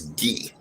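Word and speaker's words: Guy: my real name is ghee g-u-y but my family's from haiti is pronounced ghee right and we ship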